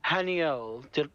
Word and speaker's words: Haniel: danielle yes i know so i go haniel did i pronounce that correctly yes you did okay um do you